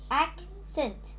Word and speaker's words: accent: noun and it has it has two syllables easy act scent oh wait what i mean accent accent accent the stress is on accent act so um the meaning